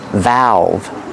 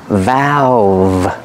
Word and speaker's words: valve: use open and close pronunciation valve use the short a sound like apple and black cat valve remember the V has a voice a vibration valve this is a